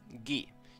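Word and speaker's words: ギ: You pronounce this as ga, like the word garden. Write ga, ka as normal, then add Dakuten marks in the position shown in the image. Ga. Next, gi. Gi.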